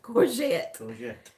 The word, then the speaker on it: courgette: do you say it courgette courgette courgette not Corvette but courgette do you like a